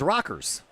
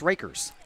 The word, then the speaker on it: Rackers: And, if you're in Clinton County, Rackers is Rockers. Here it's Rakers.